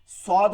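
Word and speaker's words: صاد: সদ হচ্ছে সিরসির আওয়াজ হবে কিন্তু মোটা আওয়াজ হবে। সিন হচ্ছে সিরসির আওয়াজ চিকন, সদ হচ্ছে সিরসির আওয়াজ হবে কিন্তু কি হবে, মোটা হবে।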